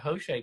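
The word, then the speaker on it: José: And you say you pronounce it Jose.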